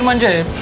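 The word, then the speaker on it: mojo: एक मेक्सिकन प्रकार आहे तर आपण त्याच spelling M ओ एम ओ जे ओ करतात पण तिकडे जे ला उच्चार ह करतात म्हणून मोहो म्हणतात तर ते असतं तर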